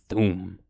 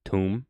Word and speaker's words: Thoom: Thoom. Pronounced tomb. Oh. Damn. They got me. They got me, guys. They got me. Pronounced tomb, dumbass.